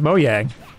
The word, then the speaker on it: Mojang: we all learned that it was pronounced mojang and then that was it but no everybody's taken the gif jif approach apparently no that's how you pronounce it it's swedish but it's like ubisoft